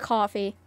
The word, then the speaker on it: Ko-fi: It's K-O-F-I. Oh, K-O-F-I. Sometimes people call it coffee. Yeah. What about... It's like music and stuff. JMD, you're an absolute mad lad. Anyone in self-timeout? No, dude, Isn't Ko-Fi like the music, like,